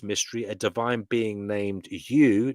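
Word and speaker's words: Yeuw: Before this, by the command of the first mystery, a divine being named U. Now that's spelled Y E U W like U tree.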